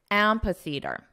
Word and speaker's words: amphitheater: pronunciation is very simple just say the word Theater which you already know how to pronounce theater theater now for this ampa so don't let this spelling confuse you ampa ampa now the syllable stress is on the first syllable so let's combine the